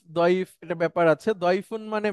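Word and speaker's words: ضعيف: তো আপনাদের যদি ওরকম হয়, তো জয়ীফ দয়ীফ এটা ব্যাপার আছে। দয়ফুন মানে মেহমান, হ্যাঁ, দয়ফুন মানে হচ্ছে মেহমান।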